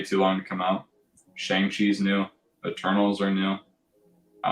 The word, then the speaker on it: Shang-Chi: Actually, I'm pretty sure it's pronounced Shang-Chi, but whatever.